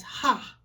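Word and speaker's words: haa: It looks kind of funny here, but we pronounce it as ha.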